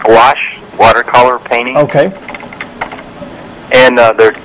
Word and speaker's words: gouache: e okay the one painting gouache it's it's pronounced gouache watercolor painting okay and they're two both of